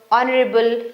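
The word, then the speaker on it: honourable: बस आप ये सेट ऑफ स्पेलिंग्स लर्न कर लो कि ये जो वर्ड्स हैं इनमें एच साइलेंट ही होता है। Honest our ऑनरेबल।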